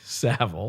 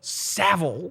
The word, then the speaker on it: Savile: So Norm brings up, Stephen Merchant says there's a dildo in there, and Norm says it's Jimmy Savile.